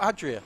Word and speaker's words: Adria: name so i'm not going to try you spell it a-i-d-r-a oh adria that's it there okay thanks for that that's